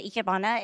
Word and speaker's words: ikebana: The ikebana is Japanese flower arrangements.